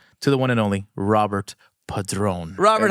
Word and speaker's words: Robert: directly from America so she has never pronounced my name with a Spanish accent so okay see I here I feel set up just a little and no so it's not Roberto Robert Robert Robert Robert there